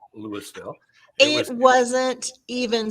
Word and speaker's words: Louisville: You got to make it more a VUL on the end. Louisville. So yeah, that is two syllables. Louisville. Louisville. Louisville. Louisville.